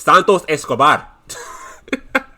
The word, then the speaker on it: Santos Escobar: You gotta say it right. It's Santos Escobar.